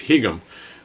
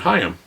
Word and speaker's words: Higham: the last name here in the United States we'd probably pronounce it higham but I actually heard him being interviewed and they pronounce it hi him and he's a very